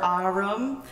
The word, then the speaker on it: Ahreum: So for those who don't know me, my name is or Ahreum. Sounds like autumn the season a little bit, but the first syllable is ah, so.